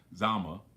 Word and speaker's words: Zama: some strength and and correcting me on the uh Zima thing I could because I was I said it wrong again you corrected Zama where uh Hannibal was Was Defeated so give thanks for